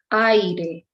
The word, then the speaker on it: aire: Aire, aire, okay, aire. And the accent is in a, in the first, right away in the first syllable, aire, aire.